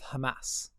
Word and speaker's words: Hamas: So I want to ask you, what do you think Israel should do with Hamas? Well, Ollie. First of all, it's pronounced Hamas.